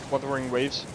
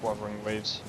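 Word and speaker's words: Wuthering Waves: Like weathering waves or is it I'm pretty sure it's pretty sure it's pronounced Wthering Waves.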